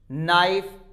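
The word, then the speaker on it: knife: When it comes before n, n के पहले आता है तो खे साइलेंट होता है। सब जानते भी हैं इस चीज को, नॉलेज, नाइफ, नो, नॉक, नी, के बाद में एन आता है तो हम के को साइलेंट रखते हैं।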